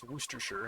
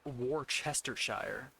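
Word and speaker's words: Worcestershire: goes bad is like worstershure sauce, worooster, however you want to pronounce it. As long as you don't call it wararchershire because that'll get you beheaded even if you got a 90% thick neck.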